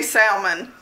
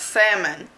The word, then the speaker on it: salmon: Now this next one, I never really knew how to pronounce it, so I say salmon. But I guess Farmer Meemaw says it's not, the L is silent and it's salmon.